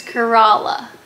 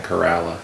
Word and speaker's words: Corolla: to Kerala we made it how does she pronounced it Corolla Kerala it's Kerala oh that's in Kerala yeah it's Corolla or at least that's how